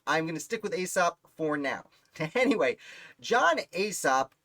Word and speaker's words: Alsop: albany uh john aesop i believe is pronounced aesop looks like aesop like asap's fables i had people comment